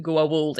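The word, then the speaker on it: Goa'uld: I appreciate that he he pronounces it Goa walled each and every time yeah so many guest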